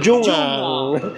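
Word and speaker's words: 중앙: And ang tamang pronunciation sa kanya based sa announcer ay jungang.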